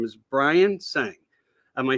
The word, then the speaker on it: Tseng: fascinating guest with me his name is Brian sang am I saying it correctly the tea is silent that's right that's right um it's uh